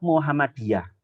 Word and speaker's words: Muhammadiyah: Muhammadiyah tapi tulisannya gitu Tapi bacanya tetap Muhammadiyah tapi tulisannya moehammadijah Gresik Tuban Gresik anak-anak gimana